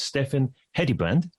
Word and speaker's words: Steffen Hedebrandt: your host of the B2B Uncovered show, and my guest today is Steffen Hedebrandt. Welcome, Steffen. Thank you, and pretty well pronounced pronunciation of a Danish name.